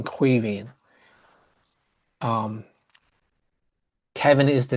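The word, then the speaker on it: Caoimhín: we would know that it's pronounced as a V and a G sound, a H sound. So you lose the sound of the G in pronouncing Cuivin.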